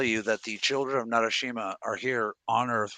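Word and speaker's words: Narasimha: What if I told you that the children of Narishma are here to fight the Asura as we speak? Yeah. And I pronounced absolutely bullshit. It was Narashima.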